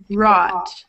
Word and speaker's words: wrought: W is silent. Rot. Rot. Rot. Yeah, it's rot. A silent W. Which O-U-G-H sound is that? Rot. Rot. Rot, rot. It's the ah sound, right?